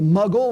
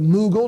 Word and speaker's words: Mughal: They are the Safavid, the Mughal or the Mughal, depending on your pronunciation, and the Ottoman Empire.